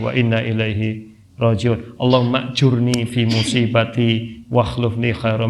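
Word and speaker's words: أجرني: Jadi kalau kita ditimpa musibah, timpa aja, doa aja Allahumma ajurni fi musibati wa akhlifni khairam minha. Wa akhlifli khairam minha. Allahumma ajurni fi musibati, ada yang membacanya Allahumma ajirni, ya sama aja sih.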